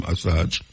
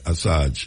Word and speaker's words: Assange: Julian Assange, I saw him pronounce his name, Assange. Yeah, Assange.